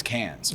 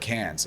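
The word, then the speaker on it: Cairns: hours North is is cans or it's spelled like K but uh but but cans and those are those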